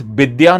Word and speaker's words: Vidya: That is why you will hear Bengali people pronouncing it as Bidya, not Vidya, or they are pronouncing